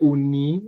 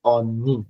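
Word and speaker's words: 언니: No, no se dice uni, se dice oni, con la O grande. Abren la boca y pronuncian oni, oni.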